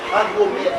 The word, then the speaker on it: Andromède: Andromède.